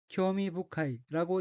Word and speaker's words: 興味深い: 우선 빨간색 줄침 부분을 보면 첫째 줄 오른쪽의 어휘는 한자가 일흥, 만미, 기쁠심 자가 들어있고 일본어로는 쿄미부카이라고 읽으며 쿄미부카이는 매우 흥미롭다는 뜻의 형용사입니다.